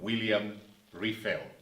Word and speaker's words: William Riffel: Welcome, William Riffel. Did I get your name pronounced correctly?